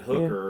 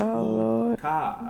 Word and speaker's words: hookah: I said hooker or something like that. They're like, no, that's not it. It's hookah.